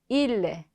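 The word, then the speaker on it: ils: 자, 그 다음 그들, il, 그녀들, elle. 에서 자, 발음 들으셨으면 딱 아시겠지만 3인칭 단수와 복수가 발음이 똑같습니다. 왜냐하면 끝에 자음 s는 발음되지 않기 때문에.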